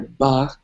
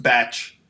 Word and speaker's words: Bach: And, you don't, like I said, you don't have to be Mozart or Bach or, It's pronounced batch.